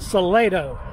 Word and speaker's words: Salado: says salido ask these people how do you pronounce the name of this town salido got it right solido solido okay it's called salado so let's try this again if you happen